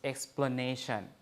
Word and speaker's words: explanation: So, but when we add a prefix, a suffix, ation, it becomes explanation. You see, A becomes schwa, right? And then ne, this is where it's stressed, has the full vowel.